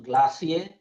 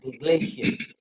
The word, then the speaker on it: glacier: use the British pronunciation glacier, and if I use the American pronunciation glacier.